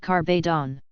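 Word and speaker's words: Kabedon: Kabidon is a Japanese word that is pronounced like carbdon.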